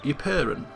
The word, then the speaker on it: Ypern: So the closest that we have to family in Flanders is Earl Frere of Ypern. That's how you pronounce it.